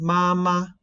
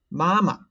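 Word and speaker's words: 妈妈: baba new york and what should be noted is that come on the second syllable of these three words should be neutral tone so do not read mama you should read mama and if you put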